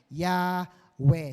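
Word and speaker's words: Yahweh: ang ginagamit na nila ang mas maganda ay yahwe sabihin mo nga yahwe yahwe yan it is the better pronunciation since Hebrew alphabet has no Letter J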